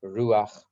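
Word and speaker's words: רוח: And they're called Eish, Mayim, Ruach, Ofar. Eish is spelled Aleph Shin, Eish.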